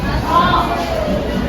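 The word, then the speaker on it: ρ: Bacanya apa? Ro. Ro. Iya, betul.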